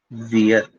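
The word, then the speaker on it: wir: तो वी को बोलते हैं वियर।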